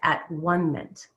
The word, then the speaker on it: atonement: this alienation and defined at one mint and rabbi alan liu was the first person years ago decades ago that i heard turned the word atonement into the syllables three syllables of at one minute is that one